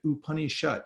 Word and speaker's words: upanishad: in life and the the very word in Sanskrit ooh honey shut shut means to sit and oopah means to be closer so the ideas and